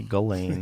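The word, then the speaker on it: Ghislaine: I think you say Galain.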